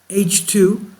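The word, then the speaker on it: H II: ionized hydrogen known as h11 region pronounced H2 where Stellar energy has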